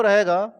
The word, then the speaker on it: rho: देखो जी, इधर डेंसिटी जो रहेगा इसमें सबसे पहले इसका सिंबल हम लोग याद रखेंगे। सिंबल वो क्या बोलते हैं रो। स्पेलिंग होता है RHO। क्या रहेगा? रो रहेगा। तो रो जहां भी लिखा हुआ रहे, क्या हम करेंगे?